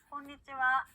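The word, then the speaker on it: こんにちは: 곤니치와, konnichiwa 곤니치와. 네, 좋습니다. 우리 분명히 이 글자 하라고 배웠는데요. 인사말로 쓰일 때는요, 하 발음이 아니라 와라고 발음한다는 거 기억해 주시고요. 인사말로 얘기할 때는 곤니치와 라고 한다는 거 기억해 주시면 좋겠습니다.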